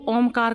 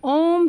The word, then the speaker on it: ओम: तो सबसे पहले ओमकार का उच्चारण करने के लिए हम सब लोग मिलकर एक स्वर में तीन ध्वनियां उत्पन्न करेंगे। अ उ म औ की ध्वनि जो हमारी आती है नेवल से आती है।